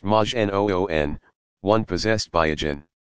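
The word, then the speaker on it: majnun: a prophet but just another Madge a nun pronounced Majin oon one possessed by a jinn to call someone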